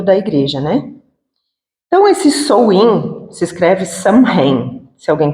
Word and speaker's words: Samhain: Então, esse Samhain se escreve Samhain, se alguém quiser pesquisar.